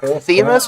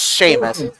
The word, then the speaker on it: Seamus: If so, that was Seamus Hamilton. The PA announcer actually pronounced it like Themis or something like that when he was doing the start. It's Seamus.